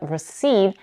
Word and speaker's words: receipt: to know is that receipt has two syllables seed while recipe has three recipe also notice that the p in receipt is silent it's not received but